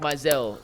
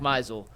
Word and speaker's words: Meisel: Bull, you and Zach Mizell, the Ultimate Meisel. It's now in my head because you said it wrong the one time. It is now stuck in my head. Zach Meisel, you and him, the